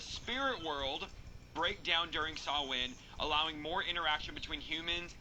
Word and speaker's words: Samhain: So Samhain, a Gaelic word pronounced Samhain, is a pagan religious festival originating from an ancient Celtic spiritual tradition.